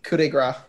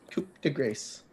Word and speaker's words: coup de grâce: ever did it right it's coup de Gras Coupe de grace this is going to what de grâce for sure coup de grâce so heroes get to